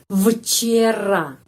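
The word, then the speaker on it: вчера: ye r a jzii vcera vcera tetapi sebelum mengucapkancera kita harus ingat huruf v sebelum huruf konsonan yang tidak ada suara yang voiceless huruf v pengucapannya F jadi F bukan V Ca tetapicera terus ca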